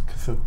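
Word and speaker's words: Cthulhu: Yeah, it's KhaThuhLooh. How do you say it? KhaThuhLooh. I always thought it was Chutlu.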